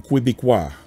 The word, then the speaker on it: Québécois: And I'm not pronouncing it wrong because that's the way my grandparents pronounced Quebec. So we are Quebec and I am Québécois.